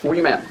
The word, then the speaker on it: Womet: And I think that Ronnie Womet, that's how you pronounce it, right? Womet. Okay.